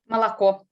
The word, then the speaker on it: молоко: Молоко. So as you heard here, she did not pronounce the three vowels the same way. This is the reduction of unstressed vowels, which are very typical in Russian.